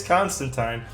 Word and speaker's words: Constantine: Constantine rhymes with wine." So apparently it's Constantine.